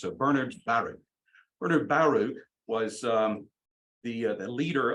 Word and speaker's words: Bernard Baruch: Bernard Baruch, I pronounced for a long time Bernard Baruch, but he himself emphasized the first syllable in both names. So Bernard Baruch.